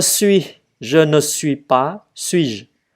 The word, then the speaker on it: suis-je: Rồi, je suis, je ne suis pas, suis-je. Chữ ơ mình không có đọc chữ ơ này không có đọc suis-je là xong.